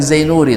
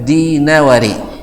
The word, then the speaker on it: Dinawari: Dal kecian zal de n diapung dek goyok dek apa con zal jadi jadi zain nuri bacanya bukan zainuri dan bukan dainuri tapi dinawari di nawari nam seperti yang disebutkan